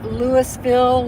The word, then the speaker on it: Louisville: You know, it's people always want to say Louisville, Louisville. I've heard some other ones too, but if you're from this neck of the woods, it's Louisville. Kind of swallow it.